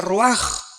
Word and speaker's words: ruach: Aquí se usa otra palabra hebrea, que se escribe ruach, con R de Raúl, A-C-H, se pronuncia ruach.